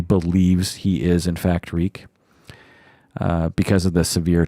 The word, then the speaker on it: Reek: he died at winterfell my name is reek it rhymes with freak my name is reek